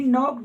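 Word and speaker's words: knocked: नॉक होता है खटखटाना, नॉक, नॉक्ड, नॉक्ड, ही नॉक्ड the door. ये के इसका साइलेंट है।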